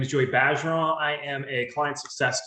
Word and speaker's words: Bergeron: So it's Bergeron, like badger. It's like saying badger, but it's Bergeron. You can say Bergeron, it's totally fine. But if you're in Louisiana, that's how you say it. It's French.